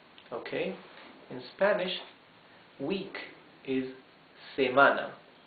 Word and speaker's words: semana: In Spanish, week is semana. Se-ma-na. 3 syllables. And the accent goes in the second syllable.